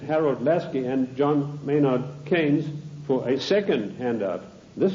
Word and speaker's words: Keynes: they sent john maynard keynes or keynes he said keynes was a better word because it arrived with it rhymes with brains and this is the